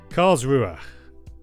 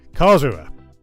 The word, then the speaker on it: Karlsruhe: Karlsruhe. Thank you, Brock, so often, along with some others in chat, often helping with my pronunciations. I try my best, but yeah, doesn't often work very well. Karlsruhe.